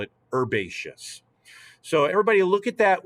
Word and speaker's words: herbaceous: we pronounce this word herbaceous the h is silent if we speak american english however if you speak